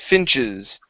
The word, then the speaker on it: finches: here this word finches give me the E S at the end finches finches there you go